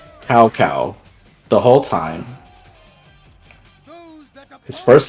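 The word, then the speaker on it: Cao Cao: w Way's name is CAO space CAO it's South sa but they pronounce it cow cow the whole time his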